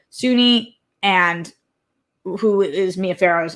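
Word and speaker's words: Soon-Yi: faro daughter uh sunyi suny i think is how it's pronounced spelled s-o-n-y-i and i think it's sunni is how it was pronounced so sunni and who is mia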